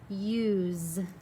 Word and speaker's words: use: And our first word is use. See, I hear that Z sound, but we're not writing a Z.